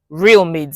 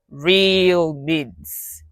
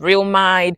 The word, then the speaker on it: Realmids: Real mids and it's one word, no space, you know. The mids the m for the mids is capital. Real mids. That's the pronunciation. Not real mind, real mids.